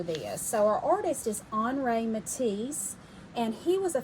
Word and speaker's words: Henri: our artist for this so our artist is hre ma and he was a famous artist from France so when you look at his name it may look look like Henry to you Henry with an i that's his